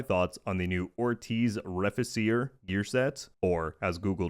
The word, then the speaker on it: Reficere: and discuss my thoughts on the new Ortiz Refacer gear set, or as Google Translate told me that it's pronounced Reficere.